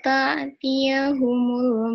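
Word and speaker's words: تَأْتِيَهُمُ: Kemudian hatta ta'tiyahumul bayyinah. Nah, di sini ta'tiyahumulnya itu hamzah bukan ain ya.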